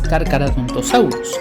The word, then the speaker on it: Carcharodontosaurus: Primero y principal, no se pronuncia Carcharodontosaurus, se pronuncia Carcharodontosaurus. La H es muda, por lo que es Carcharodontosaurus.